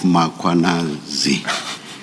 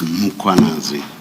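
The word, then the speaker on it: Mkhwanazi: You repeatedly talk of muanazi. There is no a right at the beginning of uh that first syllable. The a is after the h. So it's muanazi not muanazi.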